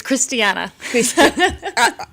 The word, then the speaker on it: Christiana: To say good afternoon to Christiana or the way that your name is, I said I have to say Christine first and then Anna after. It's Christiana. I'm tried. Christiana.